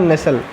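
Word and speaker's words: nestle: एस टी एल ई यहां पर जो आपका टी बोलो क्या है साइलेंट में है है कि नहीं यहां पर लिखा हुआ है नसल अब देखो सिड का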